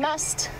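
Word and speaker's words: musth: So an elephant bull in must, for those of you unfamiliar with the terminology we're using, to spell it, it is M-U-S-T-H, must, but it is must.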